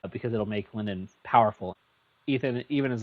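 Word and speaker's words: Eithan: But then along the way, he meets a guy named his it's spelled E I T Han. We're just gonna call him Ethan because that feels cooler than Ethan.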